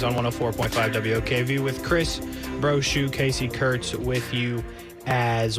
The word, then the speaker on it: Brochu: But it's phonetically Bravo, Romeo, Oscar, Charlie, Hotel, Umbrella. So Bravo, Romeo, Oscar, Charlie, Hotel, Umbrella, Brochu, Brochu Law.